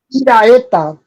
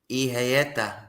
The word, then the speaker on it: Iraeta: Iraeta. Ijaeta. Did I say it? Iraeta. But I'm it's Hispanic, so it's Spanish, so it's pronounced Iraeta.